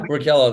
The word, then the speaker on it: Workello: He's a co-founder of Workello. I hope I pronounce it correctly. Yeah, Workello, that's right. Workello, a pre-hire assessment platform